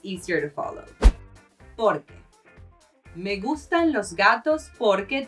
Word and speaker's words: por que: Lastly, you do emphasize the por a bit, but you do not separate the sounds: por que. So porque and por que have basically the same pronunciation.